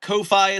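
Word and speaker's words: Ko-fi: Haunted researcher, thank you for donating again to say, are you not aware that Kofi is pronounced like coffee?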